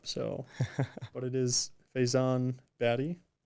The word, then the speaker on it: Bhatty: but it is Faison batty correct yeah last seems a little bit harder so it's a it's a Pakistani pronunciation but we're not going to try that we're good we're gonna trust